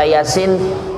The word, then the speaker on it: Yasin: Contoh, kalau yang sudah pinter kan kalau baca Yasin, Yasin itu karena udah pinter. Tapi yang baru belajar bacanya pakai tulisan Indonesia, bacanya itu ya a si i in. Kan tulisannya begitu kan? Y A-nya 2, ya a. Sin titik apa I-nya ada 3, si i in, kan gitu jadinya.